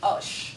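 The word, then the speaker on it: آش: so good, this particular osh, there's millions of oshes by the way, and you'll notice it's spelled A-S-H, but it's pronounced O, as in squash, our word squash.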